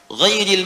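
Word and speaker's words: غيرِ: Ghairil maghdubi alaihim waladdallin. Qara'al jumhuru ghairi bil jar. Mayoritas ahli qiraat membacanya menggunakan kasrah, ghairi i.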